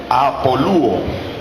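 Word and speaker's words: ἀπολύω: Y la palabra repudio que se utiliza allí, del griego repudio, del griego apolúo, con acento en la U, apolúo, que quiere decir despedir, dejar libre, soltar, divorciarse.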